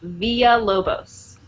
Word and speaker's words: Villalobos: So tortilla. Is pronounced like tortilla because two L's are pronounced like a Y in Spanish. So it's Villalobos.